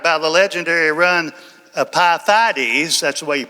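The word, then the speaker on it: Pheidippides: But it was it was actually inspired by the legendary run of Pyth. That's the way you pronounce this guy's name in Greek.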